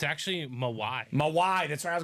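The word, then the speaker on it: Mawae: the Hall of Fame 2019 inscription it's actually mawai mawai that's what I was going to say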